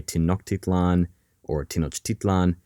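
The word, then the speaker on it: Tenochtitlan: capital of Tino chlan now you'll hear a few different pronunciations for the name of this city sometimes people say tinan Orlan but we're going to go with Tino chitlan because frankly it rolls off the tongue better in the year 1519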